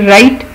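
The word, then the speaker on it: write: फिर राइट, जब हम किसी चीज़ से लिखते हैं पेपर पे या कंप्यूटर में तो इसको राइट कहते हैं, इसमें भी डब्ल्यू साइलेंट है।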